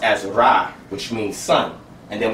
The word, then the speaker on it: Ra: So the Shen Cartus Ramsey's we have the circle which indicates the sun and that is pronounced as rah which means sun and then we have the